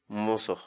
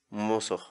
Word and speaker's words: musuq: série de vídeos onde nós ensinamos você a pronunciar determinadas palavras em Quechua. Portanto, a nossa palavra do dia para hoje é mozo, mozo, mozo, em português, a palavra Quechua mozo, significa novo.